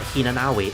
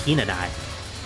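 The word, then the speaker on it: 比那名居: out the actual word, it's actually not Hinanawi, it's Hinanai, because the W is silent.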